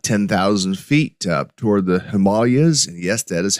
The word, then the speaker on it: Himalayas: can tell you that in India, it is pronounced Himalayas, not Himalayas. That's how we pronounce it here in the West. But if you're there, it's the Himalayas.